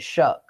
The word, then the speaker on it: Shough: Where is the C and the K in that name to make it Shuck, like corn?